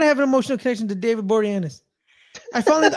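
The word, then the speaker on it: David Boreanaz: an emotional connection to David boranes I finally I finally learned how to say his name last year oh really yeah I kept calling him David bornaz I like it I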